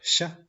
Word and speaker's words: chat: Tenemos la combinación CH que se pronuncia como el sonido sh, como silencio, sh. Y de ejemplo tenemos la palabra sha, sha. quiere decir gato.